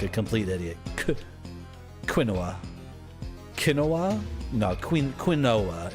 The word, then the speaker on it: quinoa: way like a like a complete idiot quinoa quinoa no qu quinoa it's going to be quinoa